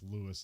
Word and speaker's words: Louis: I wrote it as Louis, and I don't know whether to say Louis or Lewis, but it's Lewis in the movie.